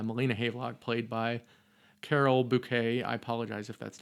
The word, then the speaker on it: Bouquet: Uh Molina Havlock played by Carol Bouet. I apologize if that's not the pron correct pronunciation. I just know that the French don't do their te. We'll say bouquet.